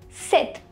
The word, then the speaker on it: cette: third one is seth c e t e set which means this in english we use c